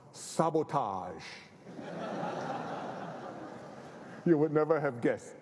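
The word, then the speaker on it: SBTG: companies under his own brand name s btg pronounced sabotage you would never have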